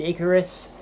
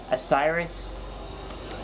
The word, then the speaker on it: Icarus: that's kidís that's kid icarus oh I say I quote kiddo a Cyrus Fitz pronounced Icarus the hell is that